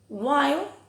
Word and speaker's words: while: G ahí, wind, o while, aquí la H sería muda, swear, o always, pero no siempre cuando va escrito es una V.